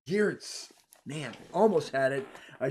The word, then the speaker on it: Geerts: I tried even on Google to pronounce your name because you can do pronounce names. And Yeah, and is that it Geets? it's Geerts. Geerts.